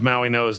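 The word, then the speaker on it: Mauigoa: But somehow Francis Maui Noah's name is pronounced that way in spite of the fact it does not have an N.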